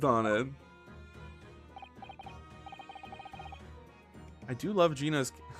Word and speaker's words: Gina: I do love Gina's pronounced Gina.